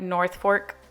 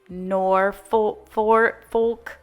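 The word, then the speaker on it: Norfolk: it like I say I said like north fork garland and it's nor forfolk and not north.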